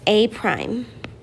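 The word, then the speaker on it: A′: the image would be labeled a with an apostrophe pronounced a prime the table below gives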